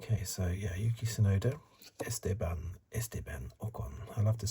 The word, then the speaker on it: Esteban: I like to say Esteban, more emphasis on the second syllable.